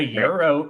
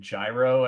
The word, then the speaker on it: gyro: that will pronounce it gyro and I was like do not call it that they're like why I'm like because I'm Greek it's pronounced Euro the g is silent now G now some